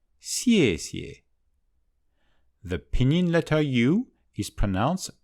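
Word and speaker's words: 谢谢: "Ie" trong bính âm được phát âm giống như phần đầu tiên của YEAH: "ie", xièxie.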